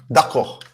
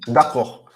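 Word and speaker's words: d'accord: Dako. Mhm? Dako. Which means okay. Okay. Or agree, to agree. And then again, we don't pronounce the last d, okay? Dako.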